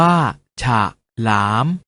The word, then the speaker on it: ฉลาม: เสียง ว่า ถ้า ถนน ฉลาม ออก เสียง ว่า ฉาก หลาม ขนน ออก เสียง ว่า